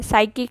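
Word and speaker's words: psychic: साइकिक है, साइकिक में आप लोगों का पी साइलेंट है।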